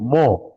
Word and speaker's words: mho: ओहम का उल्टा, सब कुछ उल्टा है, तो ओहम का स्पेलिंग भी उल्टा कर दिया है, देखो MHO, मो।